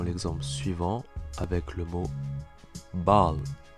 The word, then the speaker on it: bal: Allez, on commence par la première voyelle qui est le A et qui se prononce comme un A mais plus ouvert que celui en français.